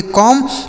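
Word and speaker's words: comb: कहीं भी दोस्तों अगर किसी भी शब्द में एम के बाद अगर बी लिखा होता है तो वह बी साइलेंट होता है। मतलब उस बी का उच्चारण हमें नहीं करना होता है। ठीक है? इसे पढ़ेंगे कॉम्ब मतलब हो जाता है दोस्तों कंघा।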